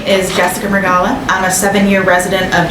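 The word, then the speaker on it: Mrugala: have to helpit me is it m r u g a l a I want to see what you say give it a world oh wow Mr uh Gala yes my my favorite mispronunciation is Mr ugala that you're all righty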